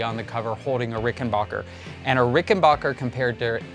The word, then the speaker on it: Rickenbacker: percent acknowledge that it's rickenbacker right or is it Rickon Rickenbacker Rickenbacker it's what you think it wouldn't be it's not Rickenbacker its Rickenbacker that's the correct pronunciation but that being said